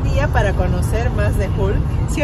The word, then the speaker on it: Hull: Así que es un buen día para conocer más de Hull. ¿Sí o no, amor? No, no se dice Hull. ¿Cómo se dice? Dime, ¿cómo se dice? Hull. Se dice Hull. Hull. Ese sonido, UL.